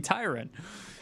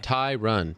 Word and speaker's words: Tyron: It's not even spelled with an E. It's very easy to to to read it and see Tyron. Um, but Ty Ty run.